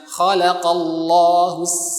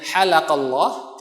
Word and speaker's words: khalaqallah: Ketika kita mengucapkan harusnya khalaqallahus samawati wal ard, misalkan gitu. Tetapi kita salah membacanya halaqallah, yang harusnya khalaqallah, Allah menciptakan, kita malah maknanya berubah, halaqah artinya mencukur atau memangkas.